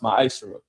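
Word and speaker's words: מעשר: verse 8 through 10, means 10th in Hebrew and is pronounced ma'ashera.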